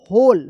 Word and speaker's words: whole: अब देखिए यहाँ पे WHOLE, होल, होल पढ़ेंगे, होल। यहाँ पे भी W जो है ना साइलेंट रहता है, इसको याद कर लीजिएगा, WHOL, होल।